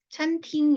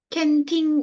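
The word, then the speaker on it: 餐厅: 애가 뭐냐면 식당이에요 식당 식당 찬팅 이잖아요 찬팅 찬팅 할 때 C an 있잖아요 거의 999% 캔이라고 읽어요 캔 캔팅 이렇게 그래서 이런 거 진짜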